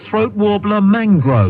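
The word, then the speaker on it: Throatwobbler Mangrove: he goes no no my name is spelled luxury yacht but it's pronounced throat warbler Mangrove I do remember and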